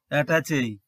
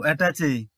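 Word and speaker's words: attaché: standard word number 11 attach a this word is borrowed from French actually words ending with this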